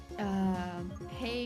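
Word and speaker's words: hej: Hey is pronounced like hey.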